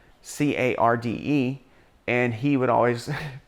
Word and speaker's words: Carde: one and two take place in is called carde c-a-r-d-e and he would always pronounce it um card which makes sense because